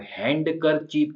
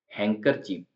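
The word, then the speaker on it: handkerchief: वाला Wednesday हैंकर चीप अब हैंड करर चीप ऐसा नहीं बोल रहे हैं हैंकर चीप यह लाइन कुछ क्लियर अभी नहीं इसलिए इसको हम ह दिया जब आएगा तब देख वेनसडे हैंकर चीप तो हैंकर चप में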